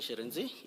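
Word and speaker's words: Shirintzi: Sharenzi.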